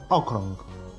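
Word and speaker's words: okrąg: «Окрунг». «Окрунг». Следующая буква «у». Та самая «о» с креской.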